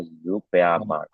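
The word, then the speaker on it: Supermarkt: Kalau S sebelum huruf eh vokal maka jadinya Z ya. Jadi bacanya zupe oke.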